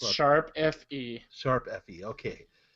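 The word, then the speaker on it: ♯FE: Sharp FE. Sharp FE? Okay. I know it has music involved, so it had to be Sharp and not pound or hashtag, because that would just sound stupid.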